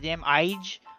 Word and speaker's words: Ige: I can't pronounce the last name. Dan Ige. It's IG. Can't remember it. Can't say it. It's Ige. It's Ige.